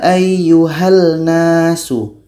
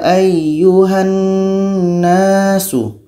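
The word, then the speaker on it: أيها الناس: Bacanya adalah idgham Kamil kalau kita baca seperti ini ya ayyuhal nasu ayyuhal nafsu yang terdengar langit Nun nya tidak terdengar maka itu idgham kami belum terjadi bacaan kita masih salah Kapan terjadi dalam Kamil jadikan on ini kita baca ya ayyuhannasu Iya ayyuhannasu jadi secara hukum disini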